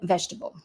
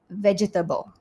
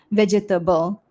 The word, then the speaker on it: vegetable: me, there have been times where I have mispronounced words. I've said words wrongly too. Take the word vegetable. So many Malaysians they would say vegetable but the natural way is actually vegetable. It's not pronounced vegetable.